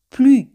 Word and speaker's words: plus: Siempre ese al final no se pronuncia. Plus.